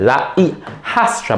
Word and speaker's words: la hijastra: La hija, daughter, el hijastro, stepson, la hijastra, remember the H is silent, la hijastra, but the J must be aspirated.